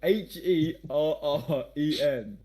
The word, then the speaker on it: Herren: No, Herren. like the bird. No, the bird is for Heron. Like Warren, but with an H.